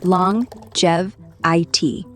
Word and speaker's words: longevity: Simple as long-jev-I-T. The G keeps quiet, like it's shy.